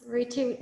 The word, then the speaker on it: Rutu: I also was wondering, there's a question here from Rutu. Is that the right pronunciation? Yes, Rutu.